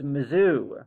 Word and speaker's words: Mizzou: By the way, you spelled it with a ZOO right here, but the way it's pronounced, it's Mizzou right here.